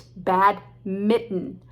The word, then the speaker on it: badminton: place called badminton but trust me no one calls it that it's bad mitten mitten just like the thing you wear in the winter to cover your hands